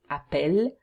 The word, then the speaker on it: appelle: And appeler, at the singular form and the il, you have a double L, and you pronounce it appelle. Tu appelles, il appelle. But here for nous and vous, you have one L, and you pronounce it nous appelons, vous appelez.